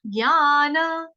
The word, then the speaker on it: ज्ञान: ज्ञान, पहले बोलेंगे ज्ञान, ज्ञान नहीं देंगे, ज्ञान यज्ञेन, य के ऊपर आघात आएगा आधे ग का, क्योंकि हम नॉर्थ इंडियन है, हम लोग ज्ञ बोलते हैं।